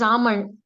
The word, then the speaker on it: almond: It is almond. It is L is silent in this word.